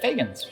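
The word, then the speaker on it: Feagins: Is it Fagans? I pronounced it correctly.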